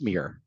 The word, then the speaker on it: Meer: I'm gonna Meer Meer it's actually pronounced Mir spelled Meer pronounced Mir y so my last